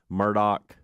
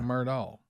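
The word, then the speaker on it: Murdaugh: be but I took on the new murdal Murdock murder mystery yeah Netflix season two does it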